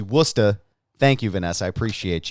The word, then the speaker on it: Worcester: yeah and bacon uh Vanessa is correcting my pronunciation of Worcester it's actually Worcester thank you Vanessa I